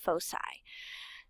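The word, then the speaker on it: foci: points are called the fosi it looks like it would be a hard C but it's not it's pronounced fosi the midpoint of the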